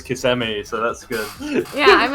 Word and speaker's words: Kissimmee: how to say it i say kiss me so so did we until we got corrected by the people in kissimmee there was this bar